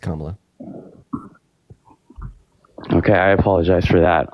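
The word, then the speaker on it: Kamala: be significantly worse right and her name is pronounced kamla okay I apologize for that um yeah I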